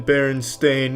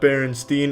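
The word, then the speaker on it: Berenstain: It's always been Baron Stain, not Baronstein. Everyone, every everyone every they all want to pronounce it Stain, but it's Stain. Ever since I was a kid, they call me Steen. It's Stain, though.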